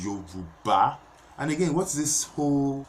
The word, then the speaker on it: Yoruba: you due it's the yoruba it's Yuba yoruba yoruba putting effort in learning how to pronounce African names it is not an experience it is Yoruba learn the pronunciation it is you bar and again what's this